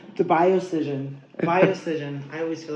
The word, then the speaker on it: BioScision: BioScision. The BioScision. BioScision.